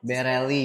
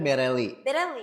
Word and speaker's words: Berelli: Bereli gitu ya. Cara bacanya Bereli.